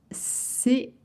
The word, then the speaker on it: ces: We don't pronounce the S.